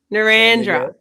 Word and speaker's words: Narrandera: Sandiego, Narrandera.